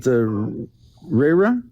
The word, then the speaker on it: Ray: Was it Rayra? What? I don't want to mispronounce your name. Ray? Am I saying it right? Yes.